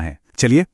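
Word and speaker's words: はち: आठ को कहते हैं हाची।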